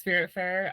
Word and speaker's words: Spiritfarer: I don't know how to pronounce it, but Okay, yeah, it's Spiritfarer.